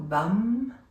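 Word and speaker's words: Vam: with the sacral chakra, which is VUM, okay, or VUM, if you pronounce it correctly, which has got a lovely kind of vibration and tone to it.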